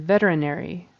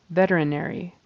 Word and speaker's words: veterinary: pronounce her name and Veterinary Veterinary so the syllable stresses on the first syllable who had been working